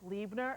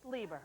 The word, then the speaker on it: Lieber: Okay, there's this pocketbook designer lady named Judith Liebner. Is this how you say it? Of course, Lieber, all right?